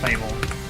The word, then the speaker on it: FABVL: If anyone in here likes any type of metal, go check out FABVL, Fable, it's pronounce that way for some reason.